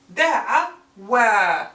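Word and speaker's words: دعوا: Da'awa, da'awa. But do not confuse it with da'aw, because this alif is unpronounced. It's just an extra alif with no phonetic value.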